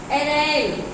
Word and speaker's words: arraign: फिर है एरेन, एरेन इसको पढ़ेंगे, जीएन नहीं पढ़ेंगे, एरेन, ARRAIGN, एरेन। जैसे साइन में SIGN होता है और जीएन साइन में जो जी है वो साइलेंट होता है।